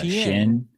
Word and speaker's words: Shein: I'm not sure how to pronounce it. Is it Shein? Yeah. Shin. Shein.